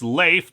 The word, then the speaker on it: Leif: He says it's Leif, but Casper and Ava think it's Leaf, and they can't tell the difference when it's pointed out.